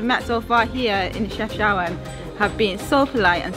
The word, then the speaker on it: Chefchaouen: Chefchaouen, which is how it's pronounced, or shortened by Chaouen, actually means look to the mountain.